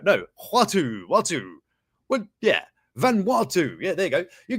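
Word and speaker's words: Vanuatu: this is uh van hangi it's sort of pronounce a bit about no watu watu what yeah van watu yeah there you go you can get a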